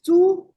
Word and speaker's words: Chu: He told us that my family name is Chu, and Chu is the same pronunciation as a pig in Chinese.